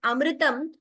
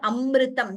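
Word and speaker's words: अमृतम्: times like य know some times अमृतम सम tend to pronounce its अमृतम ट इ नॉट राट इट इ नॉट अमृतम देर इ नो दवम देर इट इ अमृतम सिमिलरली विधाम नो एक्स्ट्रा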